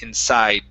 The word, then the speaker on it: inside: that word, because really when I say this word, I do not pronounce the D 100%. It's about 50%. I say inside.